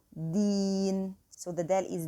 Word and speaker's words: دين: And the deen is di. And try to make the pronunciation of dal free from the T sound. It shouldn't be teen, okay? It shouldn't be approaching the T sound. It should be a pure D sound. So deen.